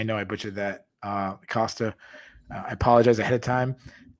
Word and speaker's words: Costa: school guy but yeah he says Polo Costa and it's always funny because I know that's the way you're supposed to pronounce it but from my neck of the woods we have a I grew up in a very Portuguese neighborhood and it's Casta we all say Casta that's the Anno englanders